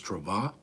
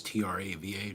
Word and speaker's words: Trava: My name is Trava. That's Trava, Trava. I have I spell it Trava with an accent or with an accent over the A for pronunciation, but that it doesn't seem to help.